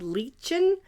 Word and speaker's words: Lichen: Then the next one we used was the sort of green color, and that's called Lichen, I believe is how you say that.